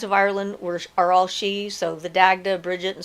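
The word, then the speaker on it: sidhe: a good explanation myself she is spelled s-i-d-h-e and it is the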